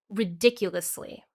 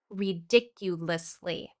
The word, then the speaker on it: ridiculously: Ridiculously, pronounced with 5 syllables. Ridiculously.